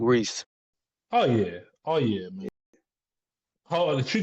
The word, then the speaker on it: Res: Rez, Mm-hmm. I still don't know how to pronounce her name, It's Reese.